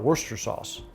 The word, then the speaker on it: Worcestershire: If you were to pronounce Worcestershire sauce phonetically, it would have a lot of syllables. And a lot of people in the UK call it Worcester sauce.